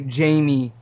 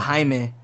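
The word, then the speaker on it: Jaime: something today it's okay people usually say Jamie instead of haime for like Kime re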